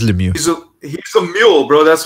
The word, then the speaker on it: Lemieux: By the way, Cyril Lowe in the chat is asking, how do you pronounce it in Canada? It's Lemieux. Lemieux. Yeah. It is Lemieux.